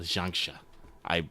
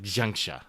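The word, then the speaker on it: xianxia: I looked it up how to say it earlier. I think I forgot how to say it, so I'm just gonna go with it's like xiangxia, which is basically Chinese fantasy.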